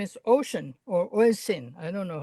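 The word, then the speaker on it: Oisín: but his name is Ocean or Oisin. I don't know how you pronounce that. In Celtic, it's ocean, but if you say ocean, you hear like something else. So it's spelled Oisin.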